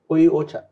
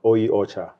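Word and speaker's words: お茶: it's like a shona word so try and pronounce that ocha exactly ocha ocha means tea well thank you jacob on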